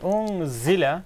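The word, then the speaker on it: أُنزِلَ: And unzila is za. Bima unzila. Za should be a bit more clearly pronounced. This is za, it's not something else.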